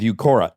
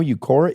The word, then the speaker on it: Uqora: Now it's time to try something that works with Eucora.